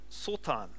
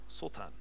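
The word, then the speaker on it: שטן: And the word in the Hebrew is the word Sotan, which is spelled Satan. Sotan.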